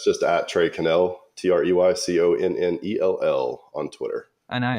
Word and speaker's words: Connell: So what's the accurate way to pronounce the name? It's Connell, Trey Connell. Connell.